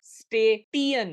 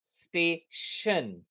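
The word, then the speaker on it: station: बोला गया है कि जब भी कोई वर्ड में टी आई या सी आई हो तो उसका साउंड श होगा या शी होगा। फॉर एग्जाम्पल, स्टेटियन नहीं, स्टेशन। एक्शन, special, musician. सो श का इस्तेमाल होगा जब भी सी आई या टी आई उस वर्ड में हो।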